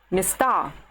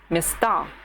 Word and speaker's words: места: The word место becomes места. The stress goes to the other of the two syllables, места.